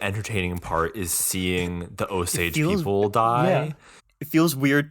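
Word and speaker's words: Osage: is yeah can say you can say o Sage so it's two syllables I I guess yes it is weird that the entertaining part is seeing the oage people die it feels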